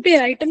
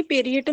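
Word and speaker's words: parietal: पेराइटल होती है कि पेरिएटल होती है? पेराइटल बोल ले, पेरिएटल बोल ले, तेरी प्रोनाउंसिएशन है अपनी अपनी। पेराइटल बोलती हो तुम, पेरिएटल भी बोल सकते हो, कोई दिक्कत नहीं है।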